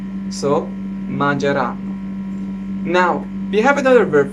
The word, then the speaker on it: mangeranno: Now you may say, well, mangeranno. The stress is on N, right? Correct. The stress is on N, but the accent is on A.